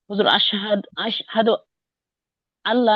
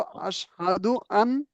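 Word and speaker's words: أشهد أن لا: যে লা মানে নেই আশহাদ আল্লাহ না না ওই যখন আনের সাথে লামটা যুক্ত করে দেওয়া হবে তখন ওই লামটা দুইবার উচ্চারণ করতে হবে তখন নুনটা আর উচ্চারণ হবে না কেমন যু বাংলায় যুক্ত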